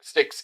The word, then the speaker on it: Styx: that uh doesn't matter you just call me sticks like the river sticks like the basically yeah